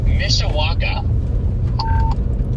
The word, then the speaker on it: Mishawaka: Mishawaka.